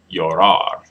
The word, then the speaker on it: llorar: Llorar. Let's check. Llorar. All right. Good job. Good job. Again, the double L can be pronounced with a y sound, and that's usually is standard.